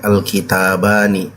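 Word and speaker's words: الكتابان: Kalau dua buku namanya isim mutsanna alkitabani. Jadi bacanya alkitabani.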